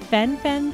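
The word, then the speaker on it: fen-phen: do you remember that Fen Fen thing I think that's the way it's pronounced fenfen everybody was all excited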